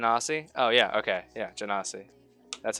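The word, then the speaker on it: genasi: do it jan ossie oh yeah okay yeah jannasi that's how you say it jenna see and unfortunately even if you go back to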